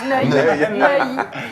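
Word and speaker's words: Neuy: Neï. Neï. Ça s'écrit N E U Y.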